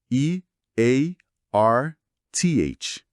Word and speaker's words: Earth: A fonte direciona certinho pro nome do nosso planeta e a pronúncia aqui tem aquele famoso t sonoro que não existe em português e precisa de prática.